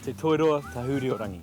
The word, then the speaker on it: Te Toiroa Tahuriorangi: It's actually pronounced Te Toiroa Tahuriorangi.